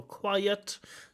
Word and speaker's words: quiet: sounds like quite a quiet slightly uh slight mispronunciation quiet has two syllables quite has one syllable it has so so